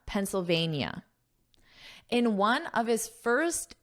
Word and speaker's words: Pennsylvania: Notice that pronunciation Pennsylvania. NIA. Pennsylvania In one of his first interviews since the incident, Mr.